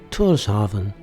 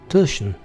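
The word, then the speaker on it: Tórshavn: After a day at sea, our first port is the capital of the Pharaoh Islands, Torven, which they pronounce Turan.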